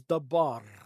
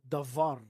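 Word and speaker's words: דבר: word for word is dabar of they also pronounce it like davar and it means it's a deed.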